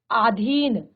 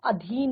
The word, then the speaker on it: अधीन: ठीक है, इसी तरह से आधीन, आधीन नहीं होता अधीन होता है।